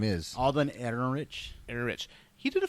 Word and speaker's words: Alden Ehrenreich: I can never pronounce his name right. I don't even know what his name is. Alden Ehrenreich.